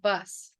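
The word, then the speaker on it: बस: that they have initiated they say boss pronounced bus bus this means you need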